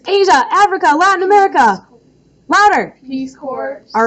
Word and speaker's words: Peace Corps: Peace Corps. All right, you guys. Peace Corps. The S is silent, just like some people in this video.